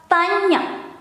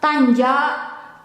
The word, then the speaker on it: tanya: Question mark in Indonesian, tanda tanya. In Dutch, one word, vraagteken. In Indonesian, the sign or mark and then second word, tanya. It's not tanja, tanja, tanya. It's like how you pronounce kanye.